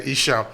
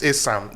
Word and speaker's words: Esan: or Esan, actually, because the Esan is the European didn't know how to pronounce Esan, so they say Esan, but the real name actually is Esan.